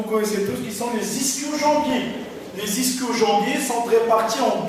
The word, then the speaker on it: ischio-jambiers: ce qu'on appelle les ischio-jambiers. D'après certains auteurs, on les prononce en tant qu'ischio-jambier. Ça s'écrit avec un I-S-C-H, ischio ou ischio-jambier. Tout dépend de la prononciation et des régions.